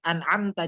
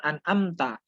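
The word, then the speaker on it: أَنْعَمْتَ: ya udah baguslah benar jadi an'amta disini khasnya itu ada dan terdengar jelas gitu ya Enggak Yang an'amta kebanyakan dari kita ketika membaca surah al-fatihah itu kayak membacanya seperti huruf alif biasa sedangkan sudah jelas tertera di ayat itu itu Rain dan dibacanya an'amta nah seperti itu baik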